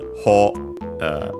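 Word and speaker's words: 方: Ho, by the way, on its own, accented on the first syllable.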